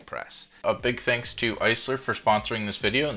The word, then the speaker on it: Aisler: is actually a spin-off of the man paul Eisler and the proper pronunciation is Eisler because this company's name is